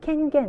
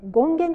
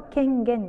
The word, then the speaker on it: 権限: そういう意味で権限って言います読み方注意で権現とか言う人いますけど声が権限ですねはいで次に